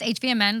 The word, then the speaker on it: HVMN: IQ how do you say this hvmn it's hvmn that's the company the products Ketone IQ oven